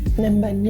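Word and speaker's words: Ninh Bình: Ninh Binh, yeah. Is that how you pronounce it?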